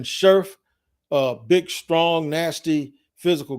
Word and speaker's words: Scherff: keep hearing his name i keep hearing his name pronounced as sheriff but brandon scherff a big strong nasty